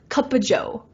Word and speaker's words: cup of joe: might even say Kaa Kaa Joe Kaa Jo right you know when we pronounce of in the middle of a phrase that talks about quantity we usually pronounce it like uh so yeah it's a